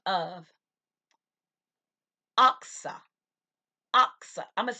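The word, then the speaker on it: Achsah: I want you to note a woman by the name of Oxa. Oxa. I'm going to spell that.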